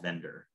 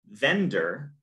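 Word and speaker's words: Vendir: with a tool called Vendor. So the Carvel toolset is made up of different individual tools. And Vendor is spelled V-E-N-D-I-R, kind of clever, is going to help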